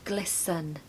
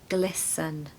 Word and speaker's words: glisten: diamonds that is to glisten pronunciation tip don't pronounce the T okay so it's a silent T and we need a schwa in the second part so it's glisten glisten number six is lobster